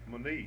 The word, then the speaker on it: Maness: You better pronounce his name right. It's Manise. Manise. And not Maness. Not Maness. I've been in a mess of trouble calling him that.